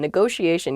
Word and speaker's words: negotiation: is negotiation negotiation yeah there are two t's in this but neither t is a hard t they're both very soft that sh sound because they're followed by the i and another vowel that she a negotiation negotiation